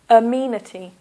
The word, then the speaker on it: amenity: the first word is amenity so that's four syllables one a me this is a uh sound uh meity here is the stress Amity amenities so you got